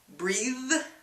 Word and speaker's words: breathe: So, you repeat after me. Breathe, breath. So you see your tongue in between the teeth on both of those words.